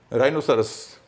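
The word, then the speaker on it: rhinoceros: राइनोसरस, गेंडे को कहते हैं, RHI है, लेकिन राइनो नहीं है, राइनो है, वहाँ भी एच साइलेंट है।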